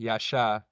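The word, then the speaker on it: Yaxhá: Yasha.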